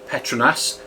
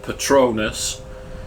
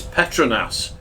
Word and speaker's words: Petronas: yes I did say Petronas not petronus which even Google pronunciation gets wrong so pay attention Bahasa Malaysia is a phonetic language with each letter being assigned a sound which does not change